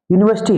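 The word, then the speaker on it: university: क्योंकि इसके उच्चारण को देखिए। उच्चारण में यूनिवर्सिटी। यूनिवर्सिटी में क्या आ रहा है?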